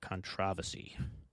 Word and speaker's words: controversy: never engaging in public controversy. I like the way the British say controversy. Controversy.